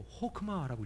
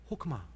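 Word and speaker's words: חכמה: 지혜라는 말이요 히브리어로 호크마라고 읽어요. 외우기 쉽죠? 호크마.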